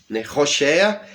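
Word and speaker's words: הושע: o livro de Oséias roxea é o nome é hebraico deste personagem que nós é chamamos em português de Oseias né é um pouco diferente a pronúncia e também a escrita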